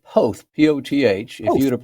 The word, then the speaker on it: Poth: It is said Poth, P-O-T-H.